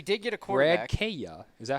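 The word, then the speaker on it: Kaaya: Kaya.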